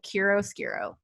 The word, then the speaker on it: Chiaroscuro: So it's CHIAROSCURO, Chiaroscuro.